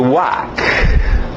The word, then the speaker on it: walk: Agora sim, o L é mudo, por isso que eu não coloquei nessa primeira escrita, só para vocês acertarem a pronúncia.